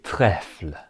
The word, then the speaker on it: trèfles: Again, for this one, you don't pronounce the S's that you see. So, répétez des trèfles.